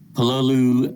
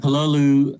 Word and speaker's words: Pololu: robots i've been using pololu uh i'm not quite sure how you say that word but i'll carry on pronouncing it like that uh pololu uh line sensor arrays